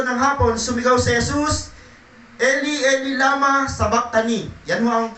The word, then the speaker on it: Eli, Eli, lama sabachthani: Mateo chapter 27 verse 46 at saka Marcos chapter 15 verse 34, nang mag-iikato ng hapon, sumigaw si Jesus, Eli, Eli, lama sabachthani. Yan ho ang pinakabigkas niyan sa Hebrew.